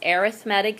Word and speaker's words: arithmetic: we get started um the next word is arithmetic sequence now it looks like arithmetic which it is pronounced that way but when you add sequence with it it's arithmetic sequence it's a list in which you add